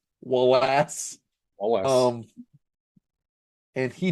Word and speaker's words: Walas: who directed, his name's Wallace, but not spelled like one would think you would spell Wallace. It's Walas, Wallace.